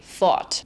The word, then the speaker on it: Ford: The German R is actually pretty hard versus the American R is like a round R. An example of this is how I would pronounce the brand Ford differently depending on whether I'm speaking American English or German. When I speak American English, I say Ford, but when I'm speaking German, I say fought.